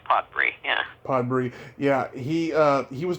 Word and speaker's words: Podbrey: Yeah, your father, Maurice Podbury, is that how it's pronounced? Morris. It's actually Morris Podbrey, yeah.